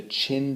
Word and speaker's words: Qin: which is talking about the Qin Dynasty and it's spelled q-i-n and in class we will go over Pages 172 to 175.